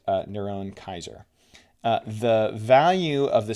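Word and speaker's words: נרון קסר: Here using English characters, the Hebrew form of Caesar Nero is Niron Oser pronounced uh Niron Kaiser.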